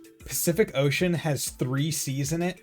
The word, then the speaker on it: Pacific Ocean: pronounced differently like the the phrase Pacific Ocean has the letter C in it and each C is pronounced differently because once again you get the s c the KC and then you have the s HC because it's because it's followed by a ea which I guess makes it an an sh sound sometimes fuck off actually